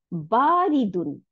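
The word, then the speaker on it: بَارِدٌ: আচ্ছা, তারপরে আসি বারিদুন, বা আলিফ জবর বা, এক আলিফ টান, রর নিচে যে, দালের উপর দুই পেশ, বারিদুন, বারিদুন মানে ঠান্ডা, কোল্ড।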